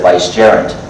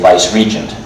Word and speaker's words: vicegerent: Instead of vicegerent, they say vice-regent, meaning the same thing.